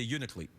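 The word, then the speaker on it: Unalakleet: you don't say that you leave out a syllable so you just say unit leap yeah right okay so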